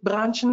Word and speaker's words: Branchen: And I think in Denmark it's called Branchen. Is that correct? That is absolutely correct and very well pronounced.